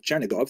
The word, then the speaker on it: Chernihiv: And there's another, Isaac of Chernihiv, sometimes recorded as Isaac of or Yitzchak of Chernigov, that would be the Russian pronunciation of the same place, also a 12th century